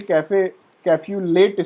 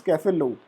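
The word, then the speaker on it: café au lait: The pronunciation in the Desi Bhasha we say Cafe-Late spot, but actual pronunciation is Cafe-Lou.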